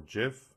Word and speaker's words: GIF: file that you've created, or perhaps an animated GIF or JIF, depending on your pronunciation of that, you could select those from here.